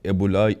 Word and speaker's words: Ebola: First can you tell me how you pronounce it? e-bola?